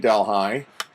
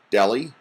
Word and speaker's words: Delhi: I found so this one is for SUNY Delhi and I know the city in India is pronounced Delhi but believe it or not in upstate New